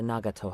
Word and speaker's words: Nagato: Let's pay a visit to the Nagato household. Nagato, that's how you pronounce it.